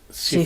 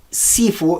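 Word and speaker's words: 師父: En chino es Shifu, Shifu. Es no. ¿no? También no, tenemos errada la idea. Sí. Ujú. ¿Qué Sifu es la pronunciación cantonesa.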